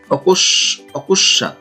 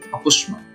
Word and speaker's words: অকস্মাৎ: এরপরে আছে অকস্মাৎ, অনেকে এটা ভুল উচ্চারণ করে, অনেকে এটা উচ্চারণ করে অকস্মাৎ। আসলে প্রকৃতপক্ষে এর সঠিক উচ্চারণ হচ্ছে অকুস্মাৎ, অকুস্মাৎ।